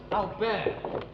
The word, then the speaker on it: Albert: dug in in a place called albert that's pronounced albert funny how it looks a bit like home